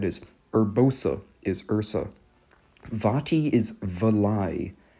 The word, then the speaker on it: Urbosa: Urbursa. Let me say that again. That's one I shouldn't be pronouncing wrong. I actually know who that is. Urbosa is Ursa.